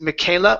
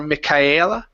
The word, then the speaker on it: Michaela: UM the name here his name is Michaela or mikaela mikaela mm-hmm good it's ok write me killer yeah it's like the name Michael Michael you can yeah